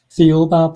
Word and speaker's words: Thiaoouba: And how do you pronounce the book again? Thiaoouba Prophecy.